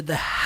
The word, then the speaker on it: the: The wolf came to the house made of straw. Olha só que interessante, gente. The, essa palavrinha aqui, ó. The, ok? Som do TH, the.